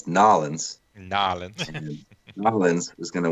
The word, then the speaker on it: New Orleans: take the over Adam you guys are pronouncing it all wrong it's nollans and Island Mullins was